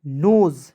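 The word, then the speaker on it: nose: एन ओ एस ई नोज देख एस का उच्चारण यहां पर ज के रूप में करेंगे ठीक है के आई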